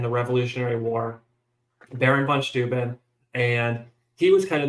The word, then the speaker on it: Steuben: So it's pronounced one way in Prussia where he came from, and then he came to the U.S. and everyone pronounced it wrong, and he's like, "That's fine." So let's just go with it.